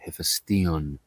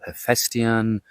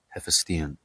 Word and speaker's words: Hephaestion: Keep in mind that this is how we pronounce the name, Hephaestion. In English, they call the name Hephaestion or Hephaestion. That's how I think they pronounced it in the movie Alexander. But it's nowhere near how we say it, Hephaestion.